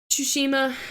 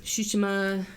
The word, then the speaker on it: Tsushima: remake and ghost of tsushima i feel like i pronounce it differently every time shushima yeah you have to say the sushi part ghost of sushi um